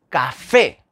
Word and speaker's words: café: ahí tenemos un ejemplo café café termina en vocal y café la sílaba tónica es la última fe pues si termina en